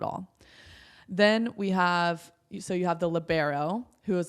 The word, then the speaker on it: libero: Sometimes people pronounce it like libro and stuff like that, but libero.